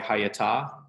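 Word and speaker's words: היתה: Yeah, and it's almost the shva there is it's technically its own syllable. So you're right, hayata. It almost comes out more as if you say it really fast, almost like hayata.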